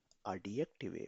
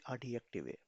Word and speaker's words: Adjektive: J को हमेशा J यानी Y से प्रोनाउंस किया जाता है.